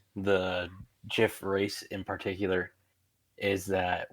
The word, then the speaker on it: GIF: character's direct opinion that it is pronounced GIF, not GIF, and it is spelled GIFF. And then, as for my